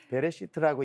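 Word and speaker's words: בראשית: 발음을 잘해야 되겠죠. 예. 자, 베레시트라고 이야기하는이 말이 태초예인데 히브리어의 창세기라고 하는 책의 이름이 따로 존재하지 않아요.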